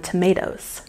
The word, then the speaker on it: tomatoes: And we've got a stress on the second syllable in tomatoes.